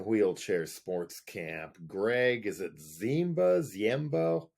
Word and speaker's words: Ziemba: And your drummer in Wheelchair Sportscamp, Greg, is it Ziemba? How do you pronounce his last name? Jemba. Jemba. Kind of like blended all together.